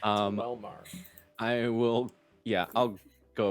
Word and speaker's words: Quelmar: The Q is Yeah. silent. It's not where you expect. He was always silent. It's Quelmar.